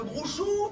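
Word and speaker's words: brocciu: charcuterie, le vin, le brouchou. Tu connais le brouchou? Je connais pas, Bouchou. Ah ouais, c'est normal, c'est mal prononcé, on appelle ça le brouch.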